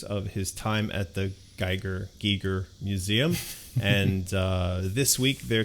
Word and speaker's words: Giger: I know a lot of people say Geiger, but I'm pretty sure technically it's Giger.